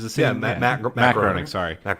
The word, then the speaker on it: Groening: Matt Groening. Sorry, Matt Groening, or Groening, I think is how you say his name.